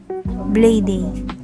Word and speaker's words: Blady: Kasi marami nagkakamali sa pangalan ko. Pero sige, kayo na bahala kung anong gusto niyo. Blady. Yan ang tamang bigkas ng pangalan ko.